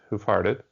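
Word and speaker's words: Hoof Hearted: And so but if you say it quickly, it's hoof-hearted.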